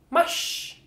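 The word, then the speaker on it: mars: a r s here you guys how it's pronounced mush mush mush mush and then last but not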